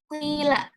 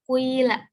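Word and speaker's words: قِيلَ: Nah, cara pengucapannya itu bagian harokat dhammah itu didahulukan tetapi sebentar atau sedikit, sedangkan nanti diteruskan dengan harokat kasroh yang lebih banyak. Contohnya bacaan ismam yaitu dalam lafaz kuila. Jadi bacanya kuila. Gitu. Ada ini ya, ada harokat dhammah dan harokat kasrohnya. Kuila gitu.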